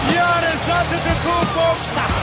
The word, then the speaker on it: Giannis Antetokounmpo: Giannis Antetokounmpo.